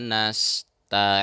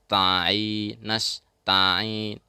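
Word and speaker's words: نستعين: Huruf ta dalam nasta'in jangan sampai ikut ke hidung. Kadang-kadang ada yang membacanya nasta'in karena menganggap bertemu dengan ain ya. Lalu ta juga ikut ke hidung, padahal tidak. Ta jelas huruf ta ya.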